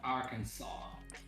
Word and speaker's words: Arkansas: Arkansas is pronounced Arkansas.